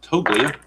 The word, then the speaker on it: Toglia: All right, here's Toglia. And the G is a soft G.